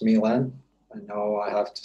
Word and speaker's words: Milen: of hands-on experience so my name is pronounced milan i know i have